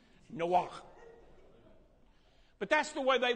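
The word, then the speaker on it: Noach: noah right but it's no walk no see how that stuff it's almost like in german where it sounds like you're throwing up no walk but that's the way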